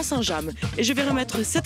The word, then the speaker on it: Saint-James: Aujourd'hui, je suis à Saint James. Mais si je le prononce correctement, je suis à Saint-James. Parce que si vous alliez de l'autre côté de la Manche, très certainement vous trouveriez Saint-James.